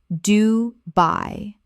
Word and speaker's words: Dubai: Dubai. 2 syllables with the stress clearly on the second. By.